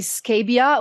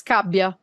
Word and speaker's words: Scabbia: it was actually perfect because many people say scabia which is wrong because it's kabia in Italian the right pronunciation is that's very Italian but yeah you